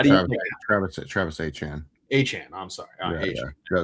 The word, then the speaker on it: Etienne: Achan, I'm sorry.